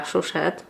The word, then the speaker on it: Chouchette: To się nazywa Chouchette. Oglądałam jakiś filmik właścicielki tej marki, która właśnie wymawiała tą nazwę jako Chouchette, także teraz już z pewnością taką w głosie mogę tą nazwę wypowiadać.